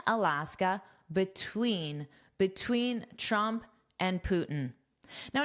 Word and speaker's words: Putin: Now, notice sometimes I pronounce this T and say Putin, Tin, and sometimes I'll drop it and say Putin. Putin. That's just a very common thing in spoken English, specifically spoken American English. You will hear me as well as all native speakers do the same thing and the pronunciation without the T is more common especially in casual speech.